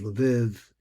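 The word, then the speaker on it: Lviv: It concluded not only Krakow and and uh places like that but it also had Lav which they pronounced Liv LK where my grandfather came from.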